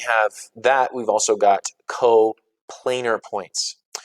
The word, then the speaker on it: coplanar: that, we've also got coplanar points. My favorite mispronunciation of this one ever was coplanar. They're coplanar, Mr. Calbeck. They're not coplanar. They're coplanar because we say the word plane.